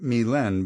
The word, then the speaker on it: Mylène: As I take my position at center ice for the zillionth time, Matt and Mylène, pronounced Mylène because she's French-Canadian, practice a pairs spin in the corner.